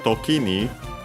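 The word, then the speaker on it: 時: First it says Tokini. And yeah, first we have Toki on its own accent on the last syllable.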